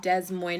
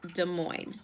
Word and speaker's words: Des Moines: it is not pronounced Des Moines is it's pronounced Des Moines it's French and you do not pronounce the SS just so you know